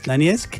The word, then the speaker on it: Donetsk: Donetsk, Donetsk y Lugansk. Y Lugansk, ahí lo pronuncias muy bien.